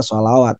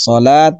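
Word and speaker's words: الصلاة: terdapat yang seperti ini bukan dibaca sholawat. Sekilas ya di harokatnya ada 2, betul kan Mas Andi? Bisa lihat sholawat sekilas ada 2 harokatnya, tapi yang benar ada wa yaqimunas sholat, bukan sholawat.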